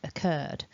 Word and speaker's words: occurred: pronunciation of the word occurred my top tip for this video is do not be tricked by how many consonants you see written in this word it looks longer than it sounds so here is the